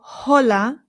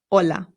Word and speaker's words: hola: important to note that the H in Spanish is always silent no exceptions so we don't say hola it's just hola hola awesome let's keep going